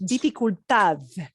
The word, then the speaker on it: dificultad: Yeah, that D, a D at the end, when a D is a little caboose at the end of the train, when the D is the last word, it's going to go very soft. So it'll never. Now, if you pronounced it dificultad D at the end, somebody knows what you mean, but it sounds like, wow, foreign accent to them.